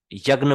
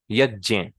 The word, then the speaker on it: यज्ञ: लेकिन कुछ वैदिक मंत्र हैं, उसमें ये बहुत इंपॉर्टेंट है कि आप इसकी रियल प्रोनाउंसिएशन को ही समझें, जो कि है ज और या, यानी जय, यज्ञ, यज्ञ।